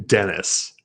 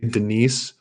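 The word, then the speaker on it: Denys: 150 versus uh dennis i'm saying dennis even though i want to say denise or denise because that's how it's spelled d-e-n-y-s but dennis bondar -170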